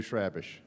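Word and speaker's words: Chrabascz: Pronounce his last name again, because I've heard 14 different ways. Andrew Shrabish.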